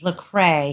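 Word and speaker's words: Lecrae: of the story that I've missed how you pronounce his name is lrae he is a Christian artist and his song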